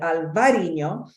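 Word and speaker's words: Albariño: will talk about it this is indeed Albarino but in this case we're going to call it alvarino and my dear friend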